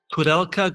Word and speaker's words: Koudelka: I'm your host Michael Ren and today's guest is Frank Codelka, global head of ETF solutions at State Street.